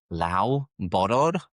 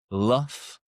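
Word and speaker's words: Loughborough: You might look at the pronunciation and think that is Lao Bor. Lao Bor, but that is incorrect and you know it is. So the correct pronunciation is LRA. LRA.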